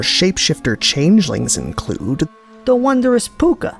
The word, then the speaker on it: Puca: And in Shadowmoor, shapeshifter changelings include the wondrous Puka, like this handsome dude. Shown giving this Kithkin a very bad day, and spelled like the Irish P-U-C-A.